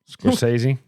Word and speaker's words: Scorsese: Scorsese.